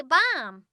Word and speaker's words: bomb: The last B is silent. Shh. We just say bomb.